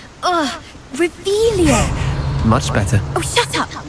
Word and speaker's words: Revelio: Rebellious. Saying it wrong. Ugh, Revelio.